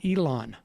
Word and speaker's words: Elon: It's pronounced Elon.